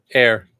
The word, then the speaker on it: ere: How do you pronounce E-R-E? Air. Air? Old word for before.